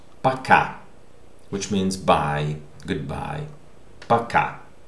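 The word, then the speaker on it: пока: in the second word paca the stressed vowel is syllable is ka so ah okay this o is not stress that's why it is pronounced ah so please remember that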